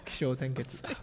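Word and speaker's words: Kishōtenketsu: Did I pronounce that okay? Kisho Tenketsu. What? Kisho Tenketsu.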